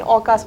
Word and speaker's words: AUKUS: ऑकास बहुत सारे लोग ऐसे बहुत अलग अलग प्रोनाउंसिएशन है लेकिन ऑकास बोलते हैं उसको बेसिकली।